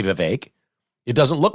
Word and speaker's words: Vivek: And it's not hard to say Vivek.